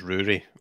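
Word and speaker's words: Ruairidh: yes good point so isn't my real name uh my real name is rory which is spell r-u-a-i-r-i-d-h so it makes a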